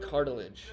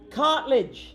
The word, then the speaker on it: Cartledge: His name is not Cartilage. Cartledge.